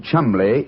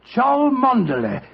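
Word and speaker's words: Cholmondeley: Being an American, he had no reason to know that the name Chumli is in no way pronounced the way it is spelled.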